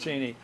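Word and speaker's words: Cheney: than anybody His Name by the way is pronounced cheny and and if you watch you're the only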